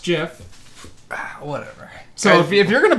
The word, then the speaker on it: GIF: created it says Jeff he says it's it's pronounced jiff whatever so if you're gonna pull heap of